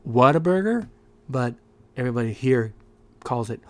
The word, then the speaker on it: Whataburger: little tiny place called waterburger i call it water burger it's technically pronounced whataburger but everybody here calls